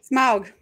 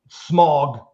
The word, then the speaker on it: Smaug: This dragon's name, despite its film pronunciation, is a homophone with a word describing a hazy, polluted atmosphere. Jesse. Smaug.